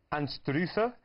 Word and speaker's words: Anstruther: Anstruther? Close. Anstrutter? No, so I got nearly. A wee bit German in there as well. It was Anstruther or Einster. Yeah, the locals say Einster.